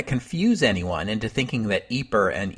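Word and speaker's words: Ypres: results as you know so I've decided on a compromise when I talk about eer the town I'm going to call it eeper when I talk about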